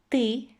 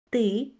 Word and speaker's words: ты: As you can see, ты, мы, вы have a weird sound in the end.